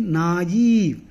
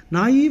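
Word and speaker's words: naïve: says that you know the adjacent vowels have to be independently pronounced that means naive should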